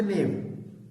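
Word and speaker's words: knave: एक आपके पास होता है KNAV, इसका के साइलेंट होना चाहिए, नेम।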